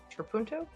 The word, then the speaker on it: trapunto: Is that how I was pronouncing that? C, applique. Nope, we know it's not that. And D, trapunto.